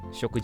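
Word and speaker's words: しょく: uh it's sorry the the Chinese pronunciation. So in this case the onomi is shok like okay like shoku right food.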